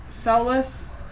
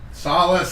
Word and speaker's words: Solace: Solless. Solace. Solace. I do it every time.